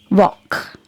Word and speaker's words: walk: So here in walk, letter L is silent, and this is the sound which we get by the letter A.